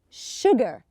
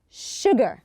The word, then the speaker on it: sugar: it also here sugar although we don't have an H here but we pronounce it so we say sugar sugar okay if we look